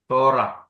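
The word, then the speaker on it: תורה: യഹൂദരുടെ നിയമത്തെകുറിച്ച് അധികം എഴുതിയില്ലല്ലേ തോറ യഹൂദരുടെ നിയമപുസ്തകം തോറ തോ തോറ ഹ ഉണ്ട് അവസാനത്തെ ഉച്ചരിക്കുന്നില്ല ഇതാണ് യഹൂദരുടെ നിയമപുസ്തകം തോറ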